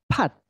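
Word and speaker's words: 팥: त त्यसलाई फात पढिन्छ अर्कोलाई चाहिँ फात अलिकति हाई टोनमा होइन अलिकति टोन हाई गरेर चाहिँ त्यो उच्चारण हुन्छ ल हेर्नुहोस् त अब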